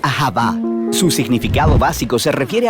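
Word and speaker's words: אהבה: como lo es en el hebreo antiguo se pronuncia ahaba su significado básico se refiere a la clase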